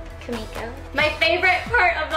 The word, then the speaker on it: Kimiko: say can we go when people are like can we go I always am like cuz I think they're saying my name kamiko my favorite part of